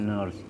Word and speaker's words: nurse: Kamu adalah seorang perawat nurse keperawatan ners dibacanya Norse You are a nurse